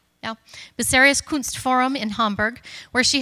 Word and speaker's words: Bucerius: From 2007 to 2009, she was assistant curator at the, I didn't even ask you how to pronounce this, Bucerius? Yeah. Bucerius Kunstforum in Hamburg, where she helped to organize